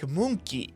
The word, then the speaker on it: Monkey: English word monkey, but if you ever listen to how it's pronounced and actually spelled in Japanese, it actually sounds a little bit more like moonki, moonki, moonki. So like a key to the moon, which is just something